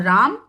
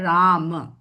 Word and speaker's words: राम: राम राम म कहने के लिए मुंह खुलेगा और राम मुंह बंद जो सही उच्चारण नहीं है। राम के लिए सही उच्चारण है राम।